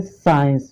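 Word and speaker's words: science: हमारा एग्जाम्पल है साइंस, SCENCE, साइंस। देखिए यहाँ पर एस के बाद क्या आया है, देखिए सी आया है, तो ये सी आपका क्या है, चुप है, साइलेंट है, इसको आपको नहीं पढ़ना है। ठीक है, तो साइंस में तो क्या होता है आपको पता है, विज्ञान है। ठीक है, इसको स्काइंस फिस्काइन नहीं पढ़ेंगे, इसको क्या पढ़ेंगे, साइंस पढ़ेंगे।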